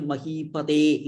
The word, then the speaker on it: Mahipate: Only here Mahipate, it's a Dirgha. Mahipate. Mahipate. Mahipate. So you pronounce it like that.